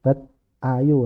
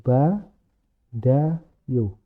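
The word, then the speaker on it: 받아요: ke sini begitu loh jadi cara pembacaannya menjadi ba da yo kenapa seperti ini karena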